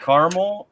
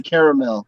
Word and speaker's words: caramel: my northerner speaking but there is definitely an extra a caramel it's not c a r m e l it's c a r a m e o caramel